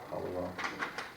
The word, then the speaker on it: Hallowell: Hallowell. Hallowell, not how it's spelled.